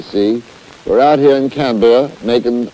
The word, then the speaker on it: Canberra: We're out here in Canberra making, I don't know if that's the correct pronunciation. You British people do have some weird names. I think it's Canberra.